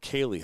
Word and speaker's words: Ceilidh: That's how you pronounce it, Kaylee, huh? I have Ceilidh.